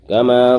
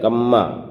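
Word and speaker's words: كما: کما، یعنی کما ہے کاف میں زبر میم میں زبر، تو میم کو ظاہر کرنا ہے، لیکن کیسے پڑھا جاتا ہے؟ کما، کما پڑھنا ہے.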